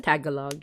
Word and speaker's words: Tagalog: Tagalog. Yeah. But it's I guess the same way you would read as tag along. So um understandable. Uh but it's not that's incorrect. It's tagalog.